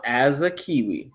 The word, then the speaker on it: Asakiwi: you pronounce it uh it's pronounced as a kiwi it's a funny name